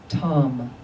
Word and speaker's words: Tam: And in the center of the disc is her seed syllable, Tam, T-A-M.